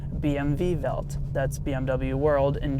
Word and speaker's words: BMW: well oh my god if the W in German is pronounced as a V well then BMW is not actually pronounced BMW in Germany it's actually pronounced a BM v so BMW Welt you